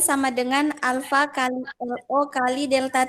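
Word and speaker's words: α: Ini bukan A. Bacanya ini alfa.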